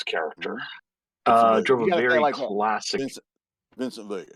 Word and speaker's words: Vincent Vega: Vincent Vega. You got to say it like that.